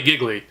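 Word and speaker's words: Gigli: go with is giggly some people pronounce it as Dealey but there's 2 g's it's clearly giggly it would add some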